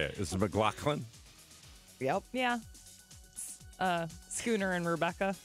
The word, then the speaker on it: MacLachlan: Is it MacLachlan?